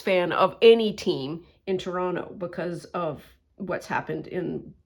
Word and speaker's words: Toronto: It is hard to be a Toronto sports fan, or Toronto. I said it properly for anybody who may not know that we have pronunciation issues.